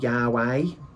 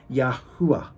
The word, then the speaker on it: Yahu: in English it's not Yahweh it's not Yahweh with a W it's yahu that's how you say his name but the thing is